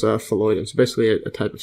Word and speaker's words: phalloidin: phalloidin. Well, actually, that's pronounced phalloidin.